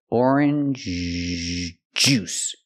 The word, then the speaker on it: orange juice: juice but orange juice the first sound is softer and the next sound is harder J juice together orange juice not